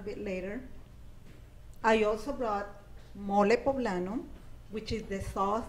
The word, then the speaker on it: mole: I also brought mole poblano, which is the sauce that is very What's it called? Mole. Mole. Yes, That made with chocolate? It's spelled like mole. Yeah, mole. M-O-L-E. Mole, like a mole.